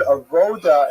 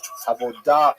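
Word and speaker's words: עבודה: The word avoda in Hebrew, avodah in modern Hebrew, or in Sephardic pronunciation, it's hard to translate properly.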